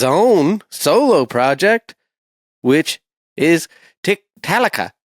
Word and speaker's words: Tiktaalika: He's from several different projects, Haken, and his own solo project, which is Tiktaalika. Is that right? Did I say it right? Tiktaalika, yeah.